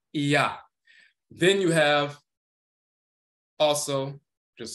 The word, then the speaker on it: Iah: It's a combination of E and A, Ea, Ea. And this is where you get the Ya sound from.